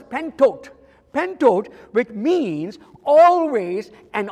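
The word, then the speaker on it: πάντοτε: You know, the word always in Greek is pronounced as pentot.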